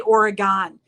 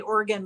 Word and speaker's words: Oregon: there and you have you can't say Oregon you have to say Oregon like it's Oregon like an organ in your body or an organ you play just letting you know